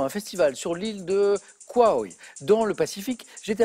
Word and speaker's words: Kauai: J'espère que j'ai bien prononcé l'île. D'ailleurs. C'est l'île de Kauai.